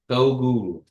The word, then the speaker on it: Togu: Togu. But you kind of make a small D sound. It makes it sound Kiowa when you say it like that. Togu.